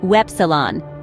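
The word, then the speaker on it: Ypsilon: Y is pronounced Wepsilon, and a word to remember is Yoga, same as in English.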